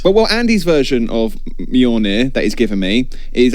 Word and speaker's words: Mjölnir: gold didn't want to Steven Knight hello it's pronounced me on there Mjolnir on beyond now as Steven you were you